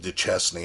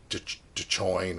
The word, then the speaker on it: Duchesne: We went to one campground, which we keep on pronouncing it wrong. We pronounce it Duchesne. I think it's something else. It's like Dechoin or something like that.